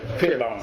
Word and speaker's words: Fielbaum: No, pero se pronuncia igual. Firbaum. Sí, Firbaum.